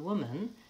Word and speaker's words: woman: bagua office of official here's another tricky one man Wow ah but that same spelling in the word woman is the bow schwa man and woman that's